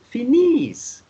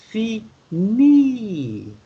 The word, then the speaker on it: finie: the S was pronounced, you know that you don't say une chose finis. You only say une chose finie with IE at the end, to have the E sound instead of the S sound.